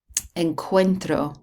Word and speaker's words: encuentro: Encuentro, okay, it's a hard C there.